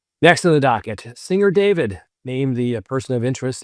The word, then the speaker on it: D4vd: a Tesla registered to singer David, spelled with a four, and his real name is David Anthony Burke.